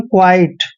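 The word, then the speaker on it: quite: उच्चारण हम कैसे करेंगे जब भी क्या के बाद यू आता है और साथ में आई आता है तो क्याऊ का उच्चारण तो हम यहां पर आधा क करेंगे और देखिए यू का उच्चारण यहां पर व करेंगे और आई का उच्चारण आई ही करते हैं ऐसे और टी ई को ट पढ़ते हैं इसको पढ़ते हैं हम क्वाइट क्वाइट क्वाइट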